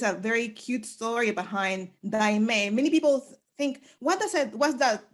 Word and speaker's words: Daymé: So da, y, ang. So my brother's name is Diane. My name is Daime.